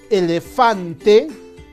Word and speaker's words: elefante: Si yo digo elefante, la sílaba tónica será elefante. La sílaba tónica será fan. Por lo tanto, en esta palabra, la sílaba acentuada es fan.